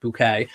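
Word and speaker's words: Bucket: And those of you who watched my Sheridan bouquet video, B-U-C-K-E-T, pronounced bouquet, will know I did a video on how not to have a tacky Christmas.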